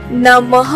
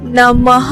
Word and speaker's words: नमः: को विसर्ग कहते हैं इसका उच्चारण ह की तरह होता है और इसका चिन्ह आप